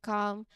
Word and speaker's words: calm: Moving on to the L silent before an M, consider calm, palm. In both cases, the L is silent and you move directly from the A sound to the M sound.